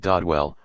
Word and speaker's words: Dodwell: sparsely inhabited Hamlet of dodwell pronounced dadle by the natives 115 which combined with